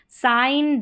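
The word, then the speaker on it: sign: जी साइलेंट है देखिए जी और एन का कॉम्बिनेशन साइन डिज़ाइन और एलाइन जी यहां पर साइलेंट है।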